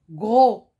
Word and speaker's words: gros: s quand dans l'exemple gros gros vous m'écoutez je ne prononce pas le s gros s est une lettre muette et se trouve à